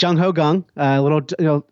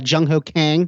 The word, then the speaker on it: Jung Ho Kang: It's Jung Ho Gung. For about the first year of his time at the team, he was Jung Ho Kang.